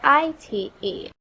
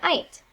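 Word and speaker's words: -ite: You can remember that because it rhymes with dynamite.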